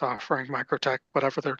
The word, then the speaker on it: MikroTik: Well, so it's MikroTik as a company, which is Mikrotiko, small network. That's Latvian.